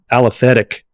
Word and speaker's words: aliphatic: segments you know there's aromatic althetic aliphatic am I saying that right aliphatic aliphatic I said it right I think so said it